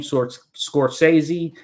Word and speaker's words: Scorsese: Martin Scorsese, I think it's his name, Scorsese is how you pronounce it.